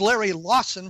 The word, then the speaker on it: Larry Lawson: My guest, Larry Lawson, was so annoyed that I mispronounced his name, he hung up on me. No, it is Larry Lawson, for those of you who are keeping score at home.